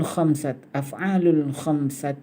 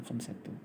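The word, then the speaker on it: الخمسةِ: Kemudian af'alul khamsati. Ini khamsati sebenarnya, bukan khamsatu.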